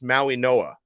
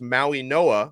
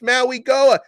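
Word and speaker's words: Mauigoa: that I'm I'm pronouncing most people are pronouncing their last name wrong even though it's spelled the way it is it's Maui Noah okay so you guys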